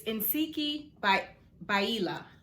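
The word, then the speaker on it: Ntsiki Biyela: did i say that right how to phonetically pronounce her name it's insiki by baila and it is a chardonnay a south african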